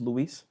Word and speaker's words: Luis: I've always gone by, Louis, Louis. Not Luis. But when I started working in corporate world, everybody was spelling my name wrong, 100% of the time. So that's why I started pronouncing my name Luis.